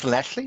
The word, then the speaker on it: Llanelli: a lovely time in Llanelli for 2 weeks. Hopefully, Paul doesn't pick me up on my pronunciation like he slightly did last week. No, that was perfect. Llanelli, that's bang on.